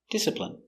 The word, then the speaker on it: discipline: Pronunciation discipline. D I D s this dis I disip discipline. Discipline. I discipline. Disipline. Discipline. Discipline. Discipline. Stress on the first syllable.